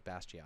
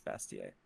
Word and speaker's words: Bastiat: it bass giant choices is it bastiat i always thought it was bastion he he he pronounces it bastiat but in french it's bastier bestia yeah well bastiat uh